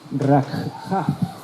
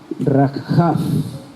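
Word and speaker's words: רחף: movía, en hebreo es rakhaf. ¿Estáis tomando notas? Deletreo, si queréis anotar la palabra hebrea. R-A-K de kilo, J-A-F, con acento en la última A. Rakhaf.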